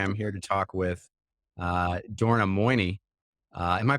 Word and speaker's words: Dorna Moini: Today, I am here to talk with Dorna Moini. Am I pronouncing that right?